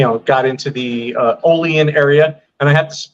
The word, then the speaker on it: Olean: got into the uh Olean area and I had I have to stress the pronunciation of Olean not Olean I almost got jumped